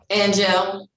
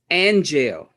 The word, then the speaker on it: Anjail: How do you pronounce that name? Angel. Angel.